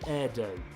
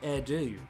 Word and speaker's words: AIRDO: There's companies like Peach, Skymark, Jetstar, and Airdo. It's kind of annoying. It looks like Airdo, but it's pronounced Airdo.